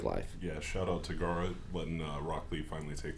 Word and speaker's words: Gaara: And it's Gar talking about Gaara. There, see, that's what I'm saying. I knew I was going to say it wrong. Gaara talking about how, it's